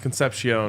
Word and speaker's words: Concepcion: Next, Kevin Concepcion. We talked about him yesterday. He's, name. I think, the top-ranked wide receiver in the portal right now, if not one of them. And it is pronounced Concepcion.